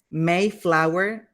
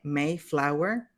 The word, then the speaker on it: Mayflower: Mayflower, como si tuviera una E, Mayflower.